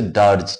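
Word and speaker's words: dirge: the meaning of word ডারজ ডারজ মানে কি উচ্চারণটা হচ্ছে ডারজ ডি আই আরডার হচ্ছে এক ধরনের শোকগীতি লেমেন্ট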